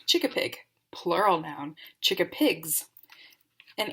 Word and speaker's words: Chickapig: a definition chicken Pig this is how you pronounce it chicken Pig noun chikka Pig plural noun Chicka pigs